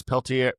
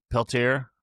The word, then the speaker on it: Peltier: uh Ken Pel uh it's Ken Pelt. How do you say it? It's It's weird. It's Peltier Pel Peltier. Peltier.